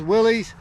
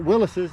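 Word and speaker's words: Willys: 1963 Willis's wagon Willis's Willies I've heard it both ways i' I've been told that he pronounced it Willis's even though it's spelled Willies this here is of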